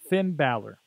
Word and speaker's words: Finn Balor: out there, all of the Mayhemers out there, Finn Balor.